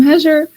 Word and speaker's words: Hajar: My name is Hajar. So it's like Heather with a J.